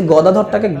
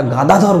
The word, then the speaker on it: গদাধর: তো প্রভুপাদের কানে এটা লাগছিল, তো উনি ভবানন্দ মহারাজকে ডাকলেন যে কারা গান করছে তাদেরকে বলো ওরা গাদাধর বলছে, কথাটা গাদাধর না গদাধর, উচ্চারণটা যেন সঠিক হয়, অন্তত যেন সুরটা যেন